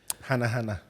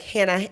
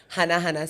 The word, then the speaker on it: Hanahana: How do they mispronounce They'll say it? like Hannah, like they'll say like Hannah.